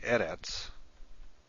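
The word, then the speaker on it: ארץ: In a word like eretz, which means land or earth, the first syllable is accented.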